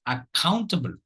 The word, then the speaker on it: accountable: like this it is accountable accountable accountable accountable you will notice that the second syllable carries the stress so there is only